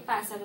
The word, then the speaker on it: pássaro: Qual foi a sílaba que eu falei mais forte? O pá.